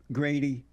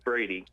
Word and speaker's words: Brady: feel about black conservative Grady its Brady Brady yeah Brady oh they have a G here for some reason its Brady not okay yeah they spelled your